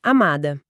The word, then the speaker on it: amada: Mas na poesia a palavra final é amada. O pico de energia sonora está no má. O da final é apenas um suspiro.